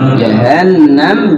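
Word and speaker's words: جهنم: Jahannam, di situ ada nun bertasydid. Tajibu gunnah. Apa? Tajibu. Ada dua doang tuh tajibu gunnah. Nun bertasydid, mim bertasydid. Tajibu gunnah. Wajib gunnah, wajib lagu. Cara bacanya gimana? Ya itu. Di huruf gunnahnya itu agak ada jeda waktu. Minimal dua ketukan.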